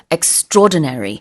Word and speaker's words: extraordinary: 근데 extra라ordinary라고 발음하지 않고 extraordinary 이렇게 발음을 하고요.